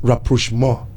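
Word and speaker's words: rapprochement: say how on Papa it's a French word okay it is pronounced rapo more okay so he went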